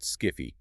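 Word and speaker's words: SCFE: That is absolutely the textbook presentation for a slipped femoral ephosis or SCF often pronounced skiffy SCF peaks between 10 and 16 years.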